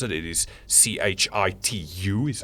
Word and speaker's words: Chitu: It is CHITU is how you pronounce it.